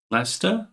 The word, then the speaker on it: Leicester: That's I love that you're madder about that four invisible letters in Leicester.